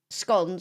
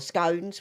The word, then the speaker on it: scone: So your biscuits are too salty to be they're more savory whereas scon or scones whichever way you want to pronounce it are actually sweet.